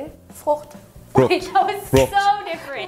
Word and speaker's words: Frucht: Frucht.